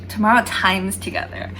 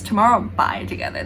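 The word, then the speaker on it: TOMORROW X TOGETHER: name i thought their name was like either pronounced like text like txt or just like um tomorrow times together that's what i've been calling them but then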